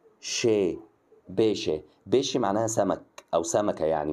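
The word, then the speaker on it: pesce: نكتبها عندك في المذكره الثلاث حروف دول لما بتلاقيهم على بعض كده تنطقوا شي ش بص هنا نطقتها قلت ايه قلت ب شي ب شي اللي هي طبعا معناها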